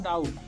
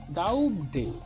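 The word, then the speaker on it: doubt: जिस प्रकार अक्षर बी का उच्चारण डाउट शब्द में नहीं किया जाता है, यानी डाउट यहाँ पर इसको अगर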